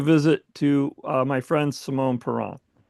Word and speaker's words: Simon Parent: I know it looks like Simon Parent, but he's French, so he says Simone Peron.